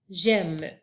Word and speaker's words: j'aime: et le mot GEM s'écrit j apostrophe a I qui fait le son e M e j'aime on peut utiliser j'aime